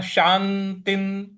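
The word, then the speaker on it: शान्तिं: शांतिन त के ऊपर जो विसर्ग है उसका न का उच्चारण ले आना है क्योंकि उसके आगे न है। शांतिन शांतिन शांतिन इस प्रकार से बोलेंगे।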